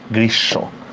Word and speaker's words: গ্রীষ্ম: একটা মফলা আছে কিনা, আমরা অনেকে এটাকে গ্রীষ্ম উচ্চারণ করি, এটা কিন্তু ঠিক না, ঠিক আছে? এটা কি গ্রীষ্ম, তাহলে উচ্চারণটা কি হবে, গ্রী তালব্যস্য হসন্ত তালব্যস্য ওকার, গ্রীষ্ম।